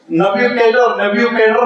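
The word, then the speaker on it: Nebuchadnezzar: उसको अरबी में बख्तनसुर कहते हैं, और इंग्लिश में आप देखेंगे जरा उसका प्रोनाउंसिएशन जरा सख्त सा है, नब्यूकेडर उसको कहते हैं।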